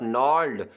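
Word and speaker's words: gnarled: ऑफ an image of नॉर्ड यहां पे जी silent है नर्ड कहते हैं जो नाभी या रफ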